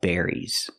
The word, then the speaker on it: berries: So let's talk about berries. We have strawberries, blueberries, cranberries, and raspberries. We have a lot of different kinds of berries, and they all have that same sound, air, like hair and chair.